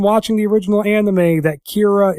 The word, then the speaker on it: Kira: the original anime that Kira is just the Japanese pronunciation of the English word killer because they don't have